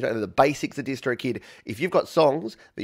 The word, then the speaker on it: DistroKid: talk about our sponsors distrokid you don't say it like that it's just distro kid but uh i've been